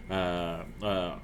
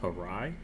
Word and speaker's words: Harai: Harai is how I've been told it's pronounced. Harai.